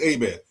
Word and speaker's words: Herbert: in Louisiana, it's A-Bear. The H is silent.